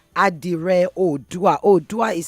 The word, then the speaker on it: Oodua: It's called Adire Odua. Odua is spelled OODUA.